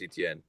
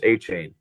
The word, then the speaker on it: Etienne: Um, but I'm gonna stick with my running back one here and take Travis Etienne. Good pick. Need a running Oh, back there. I mean Travis A Chain.